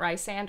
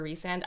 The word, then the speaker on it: Rysand: I mean, I don't know if it's pronounced Rysand or Resand. I think it should be Rysand because, like, your name's Ryan and it has the beginning three letters.